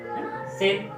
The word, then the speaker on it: sale: तो हमने से पढ़ा, सेल। लेकिन ई साइलेंट है, सेल को नहीं, मतलब उसको ई को नहीं पढ़ना है।